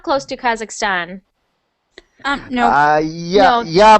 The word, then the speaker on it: Kazakhstan: I don't know what why some people just pronounce uh my country like kazakistan because it's like Kazakhstan like interesting I've heard